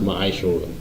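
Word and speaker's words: מעשר: You can find this in Numbers 18 and 21, and Malachi 3, 8 through 10, means 10th in the Hebrew, and is pronounced Ma'ashorah.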